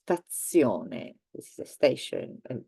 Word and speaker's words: stazione: And in fact, in general, let's say that there are more words with the sound ts. So one is pizza, everybody knows it. The other one is stazione.